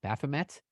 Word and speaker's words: Baphomet: It's Baphomet. It's always hard to pronounce that, but within that spoke about Guns N' Roses, like with CM Punk.